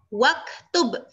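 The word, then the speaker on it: واكتب: Jadinya bacanya gimana? Waktub, langsung ke kaf.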